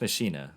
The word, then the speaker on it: Machina: actually have realized that pronouncing this deck wrong the entire time so to kind of correct my habits there but it's fast machina which makes a lot